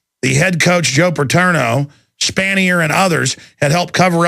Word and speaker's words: Spanier: Is that how you pronounce it? S-P-A-N-I-E-R?